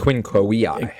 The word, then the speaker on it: Quinque Viae: The Quinque Viae. There it is, the Quinque Viae. Even though it's spelled with a V, in Latin, V is W, like the German.